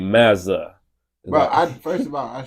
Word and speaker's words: Mazza: MAZZA. It's like Maza.